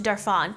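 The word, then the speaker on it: Darphin: peaceful facial you will ever get go to darf on you can look it up it's spelled dar Phin they're super sweet in there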